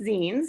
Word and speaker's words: zine: First of all, they're pronounced zines if we haven't gotten that far.